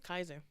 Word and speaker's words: Kaiser: I think it's Kaiser. Is it Kaiser or Kaiser? Yeah, it's Kaiser.